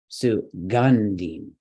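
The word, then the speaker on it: सुगन्धिम्: Could it be gun? Yes, all right, because it's CVC. It's a heavy syllable. Sugandhim.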